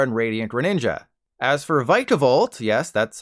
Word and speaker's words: Vikavolt: with palia varar and radiant Greninja as for vikavolt yes that's how you say it Honey Nut